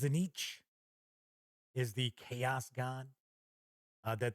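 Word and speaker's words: Tzeentch: And the background to the story is that a bounty hunter learns that Castor is actually this bigwig with this, I think it's pronounced Zenich, is the chaos god that the Purple Hand worships.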